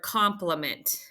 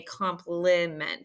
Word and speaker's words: compliment: just sounds like ah and with I in the middle syllable like in the word compliment we don't say complement so we talk about